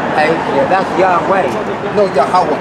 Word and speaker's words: Yahweh: Yeah, that's Yahweh. No, Yahweh. It's Yahweh. Yahweh. You're saying it's a pronunciation?